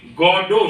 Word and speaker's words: Godot: फॉर गॉडो, गॉड इडियोटिकली, गॉडो शब्द spelling है उसकी GODOT, गॉडोट हम हिंदी में भी इसका प्रोनाउंसिएशन करें तो, पर वो फ्रेंच में उसका उच्चारण जो है गॉडो, गॉड इडियोटिकली।